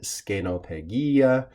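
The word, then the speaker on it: scenopegia: actually we should note the first and second e are long in Latin which means probably in Latin it would more correctly be said scano peggia but just to represent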